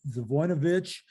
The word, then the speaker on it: Zivojinovic: I sometimes use the mnemonic voice to say Gino Vino Vic, but sounds kind of like the Sopranos, doesn't it? But anyway, it's pronounced Zvoinovich.